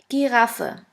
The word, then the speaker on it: Giraffe: the German word is Giraffe. Giraffe, which means giraffe. As you can see, the word Giraffe is written exactly the same way as in English, but the pronunciation is completely different.